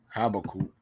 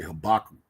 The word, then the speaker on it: Habakkuk: All right, this is Habakkuk. I heard some people say Habakkuk before. I don't think that's the proper way to pronounce it.